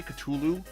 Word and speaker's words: Cthulhu: Is that how you say Culu? It's not Cthulhu. It's Cthulu.